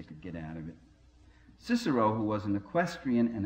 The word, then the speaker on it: Cicero: or the arger publicus our pronunciations of latin by the way is heavily compromised by english i could probably satisfy some latin purists here if i talked about kikiro instead of cicero and you'll use kaiser